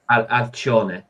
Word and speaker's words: Alcyon: Alcione, I think it is. Alcione. Yeah, Alcione. It's like a ch sound.